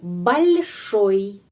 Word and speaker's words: большой: Ya, di sini oi karena oi. Pengucapannya seperti i, huruf i, oi. oi. Jadi itu большой. Hanya satu kata, tapi beberapa peraturan ya. Ada penekanan, ada tanda pelemah yang melemaskan huruf L, dan bagaimana pengucapannya I setelah huruf vokal.